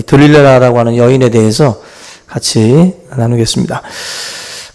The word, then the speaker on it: 들릴라: 근데 이 노래가 이제 영어 발음으로 이 딜라일라라고 하고 이제 히브리어로다가는 지금 우리 성경에 번역되어 있는 이 들릴라라고 하는 이 발음이 사실은 가장 원어에 가까운 그런 그 발음이라고 그래요.